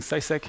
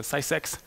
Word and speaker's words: CySat: a lot for uh actually pronouncing seisek because federico uh this morning pronounced sex by mistake which i thought was